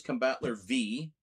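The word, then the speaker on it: Combattler V: Yeah, this is Combatler V. The V is pronounced as a V.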